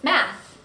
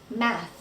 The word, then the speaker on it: math: The next word is math.